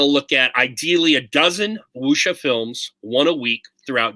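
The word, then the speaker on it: wuxia: ever heard of the chinese film genre wusha it's spelled wxia wusha that's how it's pronounced yeah yeah this is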